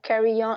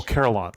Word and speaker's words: carillons: this goes for all of Belgium, is our carry-on. I don't know if I pronounce it correctly in English, carry-on culture. So the carry-on is not the same as an organ in a church. Oh, carillons.